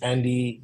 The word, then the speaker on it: Handy: So my name is Andy, but the H is silent in French.